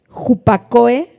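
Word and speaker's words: ὑπακοή: Y esta palabra obediencia es la palabra Jupacoe con K y E al acento en la última E, que quiere decir escuchar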